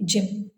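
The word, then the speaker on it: gym: पा रहे हैं, तो वाई के ठीक बाद एम होने की वजह से, और जिम एक सिलेबल वर्ड है, हम वाई का उच्चारण शॉर्ट आई करेंगे, यानी ई, तो हम इसे पढ़ेंगे जिम।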